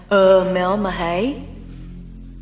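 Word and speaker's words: Uumellmahaye: How else could you pronounce it? It's H-F-U-H-R-U-H-U-R-R, isn't it? Yes. Who are you? Anne Omelmahay?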